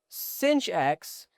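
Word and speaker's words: sinh: So cinch x that's how we pronounce it is equal to e to the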